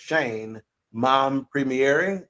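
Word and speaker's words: Shein Mompremier: But my selection was the one and only Shane, and it's pronounced Shane Mompremiere. Shane Mompremiere.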